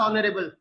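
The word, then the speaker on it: honourable: देखि बुझी पारुथबो our companies manager is dash ऑनरेबल ऑनरेबल होउची माने एठी एच रो साउंड आपनकर कोन हे जाउची ना साइलेंट हे जाउची जेतले एच रो साउंड ता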